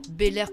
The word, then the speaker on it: Bel-Air: Bel-Air comme ça se prononce A-I-R à la ça.